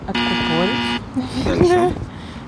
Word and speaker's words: откупорить: Как правильно ставится ударение в этом слове? На О, откупорить.